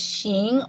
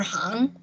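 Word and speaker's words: 行: on the screen there's basically this one character which i'll highlight that can be pronounced as xing or hang and so in this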